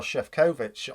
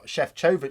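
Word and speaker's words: Šefčovič: he negotiated with Maro chef kovich chef chovich sorry I still have to get used to the right pronunciation that um they agreed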